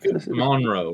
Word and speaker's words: Monroe: I'm about 45 minutes Monro that's Monro not mon the only thing is